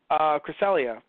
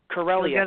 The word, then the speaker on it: Corellia: have liked if they knew each other on Cresselia, because it's kind of odd that Corellia.